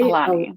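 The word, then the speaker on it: Aulani: Alani.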